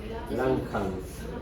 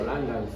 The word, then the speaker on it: Langhans: Langhans, ¿no? Lang con G y termina en Hans. Langhans. Si quiere lo pronuncian como Langhans también, es igual.